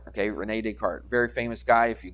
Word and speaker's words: Descartes: So the S is silent, so you wouldn't say des, but you would say Descartes.